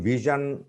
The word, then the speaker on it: vision: Here is in vision, we use the sound ja, in mission, we use the sound sha.